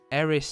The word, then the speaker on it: Erised: Actually, how do you pronounce it? Erised. E-R-I-S-E-D.